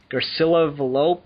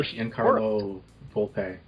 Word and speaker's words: Giancarlo Volpe: because I follow him, Garcilla Velope, and I know I'm pronouncing his name incorrectly, but I don't care. I'm an American, it's my right. I know Giancarlo Volpe.